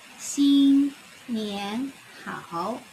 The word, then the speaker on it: 新年好: Let's see, let's try here the pronunciations on top of these characters. We can try. Xin Nian Hao. Xin Nian Hao.